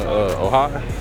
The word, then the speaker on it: Ojai: I haven't been to this part of California, Ojai. Ojai, yeah. I was saying Ojai for the longest. I ain't know how to pronounce it, but yeah. That's Ojai.